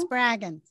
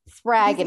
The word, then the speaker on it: Spraggon: pronounce your last name spargon spraggan rhymes with dragon spraggan spraggin um I